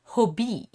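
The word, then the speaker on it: Hobbii: they are based in denmark so they're actually pronounced hobie i know that when i watch other youtubers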